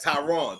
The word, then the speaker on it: Tyron: My bad, Tyron. Tyron is how you say his name.